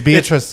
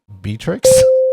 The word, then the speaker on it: Beatrix: You have the end of the first name wrong. The end of the first name? It's not Beatrice. Beatrix?